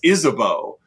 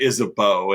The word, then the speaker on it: Isabeau: And you went Isabeau, and it's like it just sounded like they were mispronouncing Isabel the entire time.